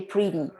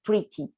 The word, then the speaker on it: pretty: So okay, and here for pretty, here in the pronunciation from United States, you use like a D, okay, pretty. And for UK pronunciation, you can use the T pronunciation here, like pretty.